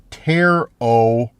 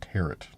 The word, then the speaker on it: tarot: The cards are pronounced tarot. A long O and the final T is silent. Tarot cards. Okay. So, I like kind of thought they were pronounced, but I wasn't sure. But, tarot cards. Okay, not tarrot. It's not tarrot.